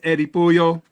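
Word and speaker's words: Eddy Puyol: My guy to my right is Eddie Puyo. Yo yo that's pronounced it right.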